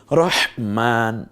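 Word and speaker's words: رحمن: কি রহমান নাকি রহমান রহমান এটা হা বলার সময় দেখেছেন একটু আহ রহমান কি চমৎকার না রহমানু এরপরে হচ্ছে আশহাদু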